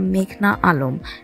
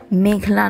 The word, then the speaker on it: মেঘনা আলম: এই সময় উচ্চ আদালতে নিজের নাম ভুল উচ্চারণ করায় প্রতিবাদ জানিয়ে মেঘনা বলেন, আমার নাম মেঘনা আলম। মেঘলা নয়।